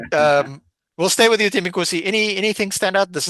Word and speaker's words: Thembelani: Uh Thembelani Bholi, could you assist us in in in pronouncing this name correctly, please? Uh Thembelani.